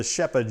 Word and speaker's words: Rzepa: style, which is the Shepa joint, which is spelled Rzepa, but I think the correct Polish pronunciation, if the internet is correct, is Shepa joint.